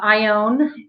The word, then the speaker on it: Ione: help yes you uh i'm very blessed to have been named after my uh sweet irish grandmother uh i own and you said i own like i own a